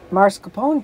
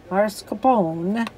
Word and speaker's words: mascarpone: i love tiramisu so mascarpone cheese marscapone cheese mascarpone however you want to pronounce it has zero carbs